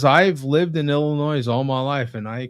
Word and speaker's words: Illinois: You don't put the S on Illinois. Yeah, Illinois. Yeah, okay. My bad. Illinois. So when Illinois, never say Illinois.